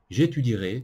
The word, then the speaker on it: étudierai: e pourquoi parce que on ne dirait on ne dira jamais j'étudie heureux nan nan ce ému et on l'écrit mais on ne le prononce jamais j'étudierai tu es tu diras